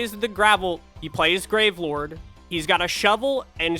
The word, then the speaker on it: Gravelord: to the next game grave Lord or as I pronounced it originally gravel or I love gravel or